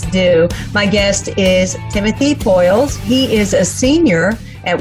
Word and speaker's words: Poiles: i mess it up no you did good as uh it's poyles yeah all right so are